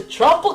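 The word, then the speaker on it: Troupple: Never heard of the Tropical King? Half trout, half apple. Oh, and he gets quite upset if you say it like Drupal. He doesn't need troops, more like cancel or doubtful.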